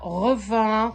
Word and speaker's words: Revin: C'est comme ça qu'on prononce à Arvin. On ne dit pas revin, comme tout le monde le dit en normal, mais en patois d'Arvin, ben on dit Arvin.